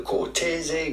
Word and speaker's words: Cortese: In the Italian wine classification system, this is a white wine made from the Cortese grape variety, white grape variety. Obviously, how do you go about pronouncing this?